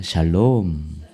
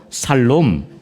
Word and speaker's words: 샬롬: 샬롬. 발음 자어야 돼요. 살롬 뭐 이러면 안 되고.